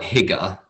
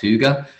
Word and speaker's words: Hygge: It's spelt Hygge, like as an English person would say it, but it's pronounced Hygge.